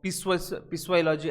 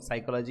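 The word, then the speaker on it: psychology: Okay, साइकोलॉजी, तो पिस्वाइलॉजी ऐसा कुछ पढ़ना मत, वो स्पेलिंग वैसा है, वो साइकोलॉजी ही है।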